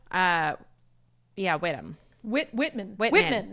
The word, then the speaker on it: Whitman: yeah whittam Whit Whitman Whitman not whitcom Whitman county I was like that doesn't sound right yeah yeah yeah uh